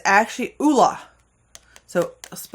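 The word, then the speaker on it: Ole Henriksen: is this popular Sephora brand it looks like olle henriksson this is uh Norwegian brand and it's actually Oola so SP like aola AA La so if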